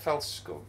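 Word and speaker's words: Fältskog: Felskog. Felskog.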